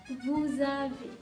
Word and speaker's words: vous avez: Ya, di sini sama kasusnya, ada pronunciasi Z di situ, vous avez, ya, karena ada liaison, ada hubungan sama bacaan gitu ya.